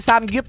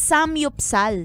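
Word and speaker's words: 삼겹살: ang Sam gup daw hindi daw samgyup ang pronunciation talaga It's Sam yupsal ay sam yupsal e kasi nga Korean Oo ayan ako dahil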